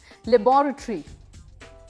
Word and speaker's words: laboratory: लेबोरेटरी, LABORATORY, laboratory, that is the UK pronunciation.